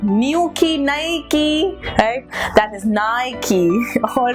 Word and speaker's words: Nike: has to be Nike okay like new key Nike okay that is Nike all right okay I'm